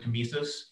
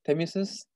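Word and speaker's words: tmesis: And that's where I found the word temesis. And sorry, what is that? Temesis?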